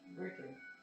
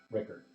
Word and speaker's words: Rickert: And you said the leader was Rickard. Rickert. Rickard? Rickert. Rickard. Rikert.